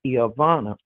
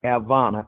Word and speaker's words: Ivana: like my oldest granddaughter her name is Ivana and they call her Avana I said stop answering to that that's not your name because when you start